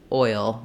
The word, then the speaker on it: oil: to a consonant sound especially with oil the challenge there is that I have a little bit of a hidden sound between the oi and the UL it's kind of a dark it's a dark L which means it has